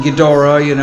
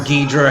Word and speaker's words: Ghidorah: I was really into the Monster Zero, King Ghidorah, or Ghidra, however you want to pronounce it.